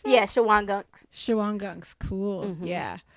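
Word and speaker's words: Shawangunks: Is that how you pronounce that? Yeah, Shawang gunks.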